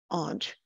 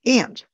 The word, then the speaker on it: aunt: So if you're from some places, you'll say aunt. And if you're from other places or other social groups, you'll say aunt. Uh, so just so you know, the, and they're both spelled the same, but they sound different.